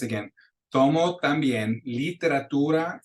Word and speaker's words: literatura: One of the biggest mistakes that we hear English speakers or non-native Spanish speakers with their pronunciation is that vowel I, the E. So like in number 3, we'll hear people say, tomo también literatura y contabilidad. You want to make sure that it's literatura, and you got to